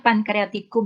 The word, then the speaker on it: pancreaticum: Membacanya pankreatikum ya. Jangan cum. Kum.